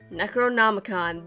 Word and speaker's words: Necronomicon: according to the Necronomicon monokuma showed us Necronomicon that's how you pronounce that okay you have to